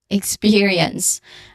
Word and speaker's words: experience: The stress syllable is in the second syllable. Spur, exper, yeah, experience.